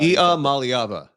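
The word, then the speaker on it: Iamaleava: name right one day if you say like e like EA Mal like the mly and then Ava is it's how he pronounces it that's how e malava e malava that's great that was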